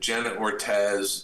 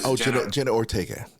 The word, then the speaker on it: Jenna Ortega: It's a terrific series, and Jenna Ortez is fantastic. Did I pronounce that right? Jenna Ortega.